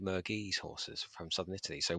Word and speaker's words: Murgese: The Italians would pronounce it Murgese.